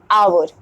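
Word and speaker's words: hour: है जैसे कि एच आवर यानी कि होता है घंटा आवर यहां पर जो हमारा साउंड है वो आ हो रहा है ना कि हावर हो रहा है आवर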